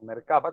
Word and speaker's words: Merkaba: pero la biblioteca Merkabah, o Merkaba, como no lleva tilde, será Merkaba, pero resulta curioso, es algún acróstico.